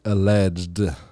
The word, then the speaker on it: alleged: corruption wait I think I think you say that with one syllable you just say alleged or it's kind of